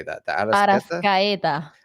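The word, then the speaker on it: Arrascaeta: Arascaeta. Arasqueta.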